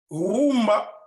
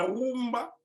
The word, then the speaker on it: rumba: leur déportation à Cuba rumba est la mauvaise pronontion prononciation des Espagnols de Kuma qui signifie nombril pourquoi nombril parce que